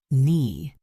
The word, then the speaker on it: knee: Knee, the K is silent.